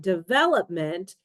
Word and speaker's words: development: For example, develop stresses the second syllable, but development stresses the third one.